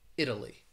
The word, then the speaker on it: Italy: between two vowels again when i say the word listen for that d sound italy or metal metal it has like a d the other words uh